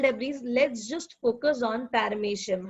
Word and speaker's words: Paramecium: I know the spelling will tell you to pronounce this as Paramoecium, but the pronunciation is Paramecium. M-O-E is pronounced as May.